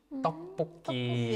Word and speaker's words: 떡볶이: Is the double consonant, like in tteokbokki. 떡볶이. Yeah. Yeah. It's like double 기억, like that. Yeah. Yeah. So it's kind of like a very strong sound.